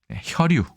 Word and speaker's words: 혈유: 혈유. 혈류가 아니라 혈유입니다.